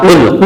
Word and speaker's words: قل: یاد کر سکیں۔ تو آئیے ہم اس کے ہجے کرتے ہیں آج۔ قاف پیش لام قل۔ قاف یہ حروف قلقلہ میں سے ہے۔ حروف